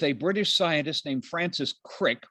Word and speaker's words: Crick: british scientist named francis crick which rhymes with prick over on the left